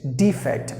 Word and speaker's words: defect: If you stress the first syllable, it is defect, meaning fault, error, or mistake. But if you stress the second part, it means a verb.